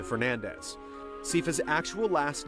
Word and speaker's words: Fernandez: was Isabel nades however according to the Japanese versions of the game as well as Castlevania 64 the name is pronounced closer to Fernandez ca's actual last name